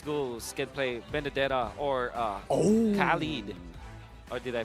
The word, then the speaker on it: Khalid: I wonder if Burmese Ghouls can play Benedetta or Khalid. Or did I pronounce that correctly? Yeah, Khalid.